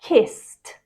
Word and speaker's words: kissed: of these verbs and pronounce the Ed as a t sound number one jump becomes